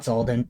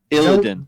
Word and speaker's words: Illidan: Not Zolden, but Illidan. Zillidan. Why did I say? Oh, because I confused it for the fucking Kingdom Hearts dude. Wasn't it? His name is pronounced Illidan from World of Warcraft, right?